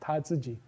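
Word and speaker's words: 他自己: It has an anaphor that behaves like this which is pronounced tatsuji.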